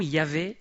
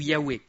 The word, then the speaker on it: Yahvé: Alors les linguistes pensent que la prononciation serait probablement Yahvé ou Yahweh.